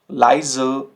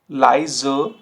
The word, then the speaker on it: leise: द एंड, ठीक है, तो इसमें थोड़ा सा एंड में आपको अ साउंड ऐड करना होता है, अ। zum Beispiel Frage, Frage, leise, leise, Lampe, Lampe।